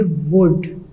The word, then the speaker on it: would: ये WOULD है, लेकिन इसमें हम L नहीं पढ़ेंगे, ये साइलेंट लेटर होगा, हम इसे पढ़ेंगे वुड।